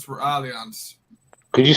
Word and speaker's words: Allianz: through um it's for allianz could you spell that a-l-l-i-n-a-z that sounds like alliance yeah that's alliance carlos carlos i did